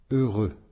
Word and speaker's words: heureux: Heureux. Encore une fois, le X ici ne se prononce pas.